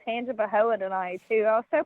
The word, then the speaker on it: Tangipahoa: Me And look, Josh you did was so good with pronouncing Tangipahoa tonight, too.